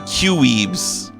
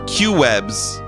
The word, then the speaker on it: Quwe: if I say qees some people pronounce my name qees or Q webs I wonder what it